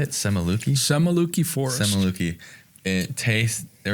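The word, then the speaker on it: Semuliki: Semaluki Forest.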